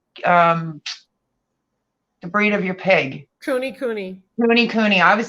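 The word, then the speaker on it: Kunekune: Cooney Cooney.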